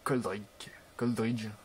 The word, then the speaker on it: Coldridge: Donc voilà, donc on est au bagne de Coldridge. Ouais, ça se prononce comme ça plutôt.